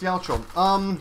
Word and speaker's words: 八百長: Now usually you would say hachi, hyaku, and nagai or cho, but together they are pronounced Yaochou.